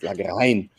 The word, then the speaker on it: Lagrein: And we have one of the autochthonous grape varieties of Südtirol, which is Lagrein, and not as my Italian friends are saying Lagrein, it's pronounced Lagrein. Ecco.